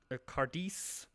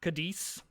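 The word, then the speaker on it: Cádiz: So, if we need to hook up, I'm assuming that's Lisbon or uh Cardis or sorry, there's not an R in there. Kadis or or Kadis.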